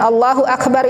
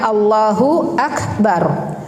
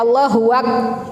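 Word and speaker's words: الله أكبر: Setiap perpindahan gerakan mengucapkan Allahu Akbar yang sama kalimatnya Allahu akbar jangan Allahu Akbar huak itu salah ya Allah ya ini perhatikan bacaan ini Allahu akbar banyak sekali orang membacanya allahuak salah ya kemudian masuk ke bacaan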